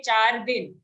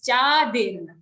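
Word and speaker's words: चादिर्: Here the mistake which sometimes may happen, you say char din. Okay, it's not char din, it's chadir. Cha and then dir.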